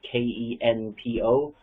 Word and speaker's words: Kenpo: spelling of it is k-e-n-p-o but when a p comes after an n in romanizations of japanese it makes the m sound like senpai so it is pronounced